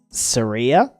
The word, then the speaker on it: Saria: do here um what said Saria like sah better like sah like Mariah I just knew someone